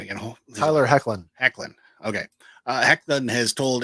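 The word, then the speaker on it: Hoechlin: he wasn't in it but uh no uh pronounce his name again Tyler heckin heckin okay uh heckin has told Entertainment Weekly that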